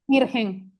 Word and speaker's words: Mirgen: Mira, bueno, Mirgen, ¿cómo pronuncias tu nombre bien? Mirgen, Mirgen.